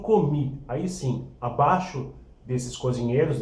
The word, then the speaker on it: commis: Em seguida, nós temos o commis. Aí sim, abaixo desses cozinheiros, desses chefes de partida, dos cozinheiros, a gente tem os commis. Tá? Se escreve commis e se fala commis.